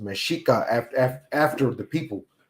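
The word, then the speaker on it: Mexica: get meico from but it's actually it's actually pronounced mesika after the people it's not it's not the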